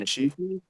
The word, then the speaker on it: Antonucci: Remember when Danny how the fuck do you pronounce his Danny last name? Antonucci.